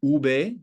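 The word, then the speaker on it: uve: as you see here written it is sometimes pronounced Ube or called Ube I should say and we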